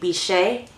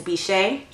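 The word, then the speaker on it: Bichette: it's in the shade bishe I think that's how you say it b i c h e tte e is bishe and I didn't touch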